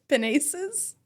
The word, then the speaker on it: pinnace: This rhymes with sinus. Pinus? Pinus. Or tennis. Pinnace. That's why we don't trust AI people. Okay, well, Merriam-Webster says pinnace.